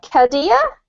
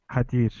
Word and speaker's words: Kadir: Kadia? Is that how you say it? Actually, it's Kadir.